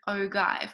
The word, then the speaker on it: ogive: aware of is that they might call it a frequency ogive or an o give however you want to pronounce it so a frequency polygon